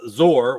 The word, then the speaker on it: Zor: So officially, according Zor. to Paul and Ian, Yeah. the original authors, it should be said Zor. It should be said Zor.